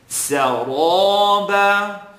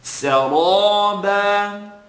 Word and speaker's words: سرابا: But I want you to put emphasis now on pronouncing the ra heavy. Saraba. And it's not so much about the shape of your lips as much as it is the air that you're controlling in the mouth.